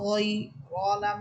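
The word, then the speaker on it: غير: এরপর আয়াত গইন ইয়া সবর গই, র লাম সের রিল, গইরিল, গইন এটা মোটা হরফ, অবশ্যই এটাকে মোটা করে পড়তে হবে, গই, র লাম সের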